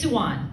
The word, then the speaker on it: Suwon: Susie um I my name's not Susie it's suan that's how you and so like no everyone